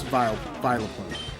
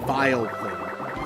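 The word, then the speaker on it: Vileplume: But I know that, like, reading it, it's supposed to be Vile Plume. You know, like vile, as in that thing's vile, disgusting.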